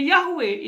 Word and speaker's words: Yahweh: dalam perjanjian lama berasal dari bahasa Ibrani dengan konsonan yhwh pakai vokal jadi Yahweh itu diucapkan dan Yahweh ini adalah